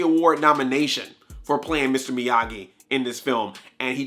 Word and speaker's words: Miyagi: Not Miyagi, it's Miyagi.